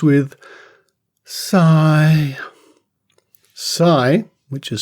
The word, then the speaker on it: psi: they call it psy which rhymes with psy psi which is spelt p s i extraordinary perception or esp